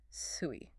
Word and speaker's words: Sui: But the middle word, sui, that's the key. Sui. Sui sounds like the word for year, but in the old stories, Sui was the name of a demon, a monster.